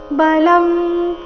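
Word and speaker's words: बलं: भूतेषु कामोस्मि भरतर्षभा बलम बलवतांचा बलम ಅನುಸ್ವಾರದ ಉಚ್ಚಾರಣೆ ಇಲ್ಲಿ ಅನುನಾಸಿಕ ಮ ರೀತಿ ಯಾಕಂದ್ರೆ ಮುಂದಿನ ಶಬ್ದ ಬ ದಿಂದ ಪ್ರಾರಂಭ ಆಗ್ತಾ ಇದೆ ಪ ಬ ಭ ಈ ವರ್ಗದ ಅನುನಾಸಿಕ ಮ ಇದ್ದ ಕಾರಣ ಬಲಂ ಅಂತ ಬಂದಿದೆ ಬಲಂ ಬಲವತಾಂ ಚಾಹಂ ಬಲವತಾಂ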